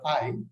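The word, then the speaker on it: eye: you write TF dot I it is pronounced I so people write it e y e one could easily get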